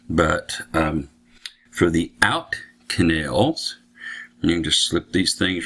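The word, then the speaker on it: cannel: is called an end canal i think that's how you pronounce it it's spelled c-a-n-n-e-l so i i think that's canal in canal and out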